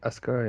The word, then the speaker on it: Asuka: Donc, c'est un peu compliqué de la mettre face à Asuka, d'ailleurs, ça se dit Asuka et ça s'écrit Azuka.